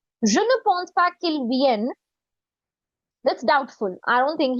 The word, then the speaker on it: vienne: The pronunciation here. V-N. Vienne. Remember phonetics? Consonant plus I. V. E-N-N-E. N. Vienne. Like and the N. Italian. So very similar to Vienne.